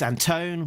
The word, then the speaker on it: Antone: Sabrina del Grosso, letterer Pat Brousseau, and editor Alex Antone, Alex Antone, rhymes with phone, publication design Jillian Crab, production design Richard Mercado, and creative consultant is Diana Davis.